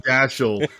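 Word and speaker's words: Dashiell: So I have a I have a master's degree in English and it was pronounced Dashel when I was in college.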